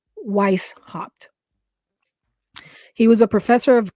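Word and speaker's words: Weishaupt: of 1776 by Adam wasup I always say his name wrong Weiss hopped he was a professor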